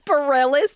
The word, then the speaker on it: Bareilles: But how do you pronounce Sarah? Bareilles. It's Bareilles.